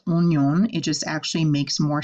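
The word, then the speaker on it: oignon: you're long gone now this word is a little strange because oh I you guys have learned makes a wah sound and yet we're not saying won-young we're saying onion the French language has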